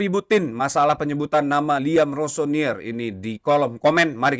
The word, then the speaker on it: Rosenior: Ayah saya mengucapkan Rossonier dan itu adalah pelafalan yang benar, tapi selama saya dipanggil dengan hal-hal yang baik, apapun tidak masalah.